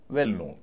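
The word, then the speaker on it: well-known: जैसे डब्ल्यू E double L के एन ओ डब्ल्यू एल वेल नोन वेल नोन। आप सुनिए वेल में हल्का जोर दे रहा हूं।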